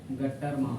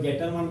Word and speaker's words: Gattermann: गट्टरमान होता है गट्टरमान तुम लोग गेटरमान पढ़ता है गट्टरमान पढ़ता है गट्टरमान होता है गट्ठरमान कौन हिसाब से पढ़ेंगे भैया बोलता आदमी बात अलग है पर गट्ठर में ना इसका प्रॉपर प्रोनाउंसिएशन जो है सो गट्ठरमान ही है समझे गट्ठर गेटर भी